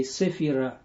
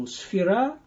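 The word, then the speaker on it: sefira: spirit spirit Hill it in English they say Saphira but I immediately recommend you to pronounce the all the terms means over in the way they are pronounced in the original language so sfera and then you say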